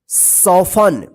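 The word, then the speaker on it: soften: पढ़ेंगे ऑफ मतलब होता है प्राय या सदा सफन एस ओ एफ टी ई एन सफन मतलब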